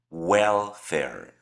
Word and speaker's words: welfare: Para la segunda sílaba nos enfocamos en las reglas de la A y específicamente la regla seis. Entonces, la segunda A va a ser pronunciada como una E. En ambos casos, entonces son E. Welfer. La primer sílaba es la que lleva el acepto, welfare.